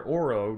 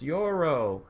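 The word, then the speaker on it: Yorion: it Waldo his name they said it's your row you're a row chance that's going just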